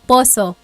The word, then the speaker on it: poso: the pump is called a poso in Tagalog poso that's how you say it right poso okay yes quto